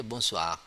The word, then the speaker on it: bonsoir: Okay, bonsoir. Bonsoir, same like bonjour just now. There's no N. We not pronounce clearly the N, but we have it like nasal sound.